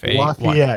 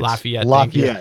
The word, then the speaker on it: Lafayette: Lafayette. Lafayette.